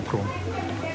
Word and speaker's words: Chrome: है ना Google Chrome उसको Chrome बोलता था क्योंकि उसमें एच आता है तो किसी ने मुझे बताया भाई H साइलेंट होता है तो Chrome होता है वो Chrome ना कि Chrome मैं Chrome खोल दे भाई Chrome खोल दे।